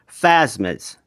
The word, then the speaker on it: Phasmids: It's the Kaiser Fasmids. Again, I don't think I'm pronouncing that right, but it's P H A S M I Ds.